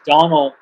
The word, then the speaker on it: Donal: And then one of my favorite novelists from Ireland is Donald Ryan. Ryan spelled like it sounds, Ryan, and Donald, Donal. And he's written a bunch